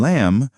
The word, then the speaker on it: lamb: Some letters in words are not pronounced like the B in lamb or the K in knife.